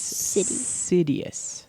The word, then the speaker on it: Sidious: C cuz so so but it's Sidious like a city is so there's a crisis